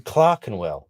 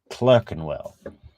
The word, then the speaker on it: Clerkenwell: while and London in Clark andwell but she she pronounces Clark andwell clerkenwell uh I know Clarken